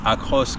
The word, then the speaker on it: Across: Nous essayons le Suzuki RAV4, le Suzuki Across ou Across comme on est censé dire en français.